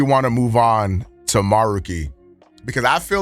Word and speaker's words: Maruki: the uh the Phantom thieves but it's actually maruki or maroi however you want to say his name and